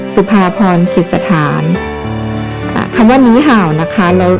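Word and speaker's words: 你好: ค่ะ ฉัน ชื่อ สุภาพร สุด สถาน คำ ว่า หนี ห่าว นะ คะ เรา รู้ โดย ทั่ว กัน อยู่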